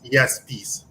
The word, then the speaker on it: Iamiaspis: It's Iamiaspis. Iamiaspis. So essentially, it's weird because the name is I, but then you pronounce it with a Y.